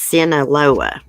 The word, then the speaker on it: Sinaloa: I've got wrote down how to pronounce that. It's Sinaloa cartel.